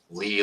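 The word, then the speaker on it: Leigh: the westerly park and it's spelled like lee like l-e-i-g-h okay uh there's a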